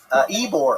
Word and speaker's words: Ybor: It's a massive shooting at the, how do you say that? Ybor? Ebor. Ybor. Yeah, Ebor.